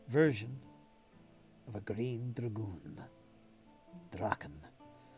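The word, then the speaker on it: Drachen: Draken. Shouldn't say dragoon. Say draken. Grune Draken would be the proper way to say it.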